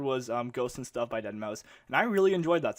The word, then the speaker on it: deadmau5: to dead mouse deadmau5 if you guys don't know how to pronounce it it's dead mouse it's not denmal5 anyways um electronic music is